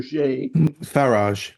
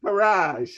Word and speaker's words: Farage: I always mispronounce the name. Not Faber. Farage. Farrage, right?